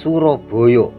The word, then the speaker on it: Suroboyo: melintas di Kota Surabaya Surabaya dalam pengucapan Jawa Suroboyo atau sorbach Jah dalam